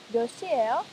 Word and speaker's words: 몇 시: The 몇 in 몇 시예요 is pronounced 몇 and it affects the next syllable, making 몇 시.